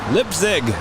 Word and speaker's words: Leipzig: says no you did not say it right lip zig that's right ah all right we've got the